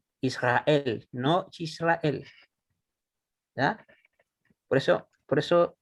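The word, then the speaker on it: ישראל: Oh, disculpe, en el caso de Israel se acentuaría en la E. Sí, aquí en la última sílaba.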